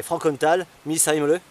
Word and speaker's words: Frankenthal-Missheimle: Alors le nom complet est difficile à prononcer, hein. C'est Frankenthal Misheimle.